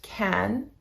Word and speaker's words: can: In positive sentences, it is pronounced kin and is unstressed. In negative sentences, it is pronounced can and is stressed.